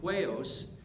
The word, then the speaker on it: huios: Now, the Greek word for children, we've looked at this word before, that Greek word for children in Matthew 5:9 is actually huios, that's spelled H-U-I-O-S, which means son.